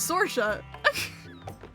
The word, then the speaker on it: Saoirse: It's not Saoirse? Her name was not Saoirse. Her name was Sorsha.